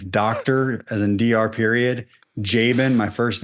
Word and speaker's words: Jaban: as in DR period, Jabin, my first name, which is the complicated part.